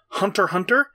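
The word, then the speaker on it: Hunter×Hunter: tasar ome Amnesia gun sword servant service Hunter Hunter and even the new Shonen Jump manga robot laser beam are all instances of it being silent I've seen a lot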